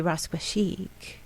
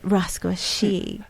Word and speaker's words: rasquachic: Austo's vision with runway rasquashik. You have to say it rasquashik. You have to roll the Rs.